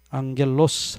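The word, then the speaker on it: ἄγγελος: 또 앙겔이라고 읽지 않고 앵글로색손족들 발음하는 습관을 따라서 angel 또 그렇게 읽어요. 그냥 라틴어식으로 앙겔 그러면 될 거 아니에요? 말을 좀 어떻게 이상하게 이게 변형시켜서 말을 해요. 앙겔로스 하면 여기 뒤에 오스 붙으면 이제 천사입니다.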